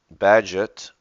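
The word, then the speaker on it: Bagehot: and interlaced With Every Act of life Mr badget we looked that up the pronunciation physics in physics and politics Endeavors to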